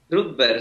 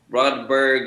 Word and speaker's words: Rudberg: Rudberg, sí. En español se dice Rudberg, en inglés se dice Rodberg, en sueco se dice Rudberg.